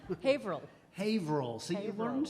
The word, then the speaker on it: Haverhill: it on a map, spelled as Haverhill. And but up there we try to do everything with one less syllable. Haverhill.